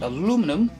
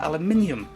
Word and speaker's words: aluminium: Or if you're American, or from any other country where they don't pronounce the word aluminium as aluminium, but aluminum, it's an aluminum floor easel, but I'll stick to calling it aluminium, as it was intended.